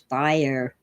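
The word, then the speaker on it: Bayer: company name to Bay in German it's buyer uh B A ye R the most famous and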